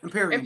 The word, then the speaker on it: Empyrean: Empyrean.